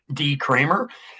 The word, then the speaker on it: Decremer: My name is Decremer. I spelled with E's, but said like there's A's in my last name.